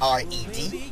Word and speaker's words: R.E.D.: Neo has an album called R.E.D. Yes. Which is pronounced as red.